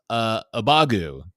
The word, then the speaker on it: Abagu: was the realization that we've all been mispronouncing a player's name incorrectly, and that she has decided that she wants a particular syllable out of her name removed. So now it's Abagu.